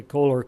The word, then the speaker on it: Koehler: and address Ernie Kaler its Koehler I say Koehler coz the way it's